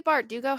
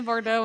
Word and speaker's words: Bardugo: Bardugo. Well, But saying Lee Bardo and missing like a whole syllable is not correct, but I mean, it sounds better.